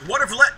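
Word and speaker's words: Watervliet: Watervleit. Like, it rhymes with elite.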